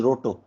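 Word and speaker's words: Rateau: Okay, pronounced as roto.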